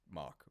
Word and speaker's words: Mach: move very good move i used to call this match punch because i didn't know it was actually pronounced mock but match punch would